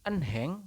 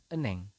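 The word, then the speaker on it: 은행: Kemudian yang ini bukan enheng, tetapi dibacanya adalah eneng.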